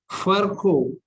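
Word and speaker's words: Virchow: after the scientist called Furco. Remember, V is to be pronounced as F and W is not to be pronounced.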